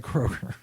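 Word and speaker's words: Kroeger: I'm g go Kroger I think the middle e is silent Chad Kroger yes my name is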